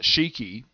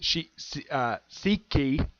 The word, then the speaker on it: Siki: It's not Shiki, the one from the Sand Villains. Yeah, this is Siki. Siki, I think it's how you pronounce the guy's name.